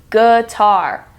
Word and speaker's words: guitar: Guitar is pronounced differently. It's like a UH sound. Guitar.